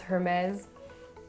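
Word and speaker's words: Hermès: than not it's pronounced hermes once again you don't really hear the h in this word or in this name i should say and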